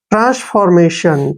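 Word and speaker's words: transformation: उच्चारण में पढ़ेंगे और टी आई ओ को हम श पढ़ते हैं एन को न मेशन हो गया ना मेशन ट्रांसफॉर्मेशन ट्रांसफॉर्मेशन क्या होता है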